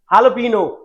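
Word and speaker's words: jalapeño: Jalapeno. इसका pronunciation jalapeno होता है जो एक Mexican pronunciation है because that is where it comes from.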